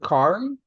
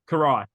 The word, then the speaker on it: Karai: Is it Kyrie? Karai. Karai. Okay, Karai. Karai.